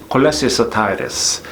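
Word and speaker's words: cholecystitis: cholecystitids.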